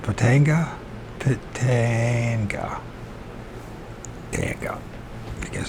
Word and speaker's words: Pitanga: On July 23rd, 1947, near Pitanga, Brazil, is that pronounced Pitanga? Pitanga.